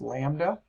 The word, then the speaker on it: lambda: It's this kind of funny looking curvy Y thing, pronounced lambda, and that's the distance between 2 identical parts of a wave.